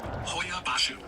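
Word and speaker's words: Hoia Baciu: of the forest again it is Hoya bashu that's how you pronounce it but it's h o i a b a c IU bro and it's hard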